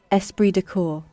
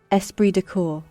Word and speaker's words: esprit de corps: such a weird thing like why why is there a p in an s in Corpse Esprit de corps yeah whatever hella hard